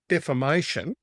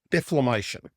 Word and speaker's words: defamation: now stopped doing, she would pronounce defamation as deflamation.